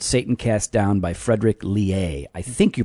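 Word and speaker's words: Leahy: There's a great book called Satan Cast Down by Frederick Lehay. I think you pronounce his last name Lehay. It's L-E-A-H-Y. It's a crazy... No, it's Lehay.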